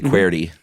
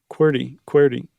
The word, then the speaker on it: QWERTY: Or do you say QWERTY? QWERTY.